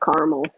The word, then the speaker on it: caramel: Double shot of caramel. This one's going to have caramel in it. Caramel. I'm Midwester. The extra A is silent.